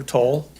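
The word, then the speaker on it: Towle: my name is toll tell people it's spelled like a dyslexic towel t-o-w-l-e I work in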